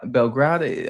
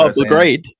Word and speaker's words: Belgrade: uh I don't want to uh be Belgra Belgrad um Belgrad. So, Expo 2027 Expo, but if anybody can get me the pronunciation, I'll definitely Belgrade.